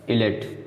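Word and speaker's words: islet: इलेट, ठीक है, यस, इजलेट नहीं पड़ेगा, इलेट, तो यस के बाद यल आ गया तो इसलिए साइलेंट है।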